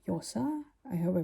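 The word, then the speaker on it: Llosa: if you pronounce no I think the L in Spanish is like a yach a j sound uh like yosa I hope I pronounced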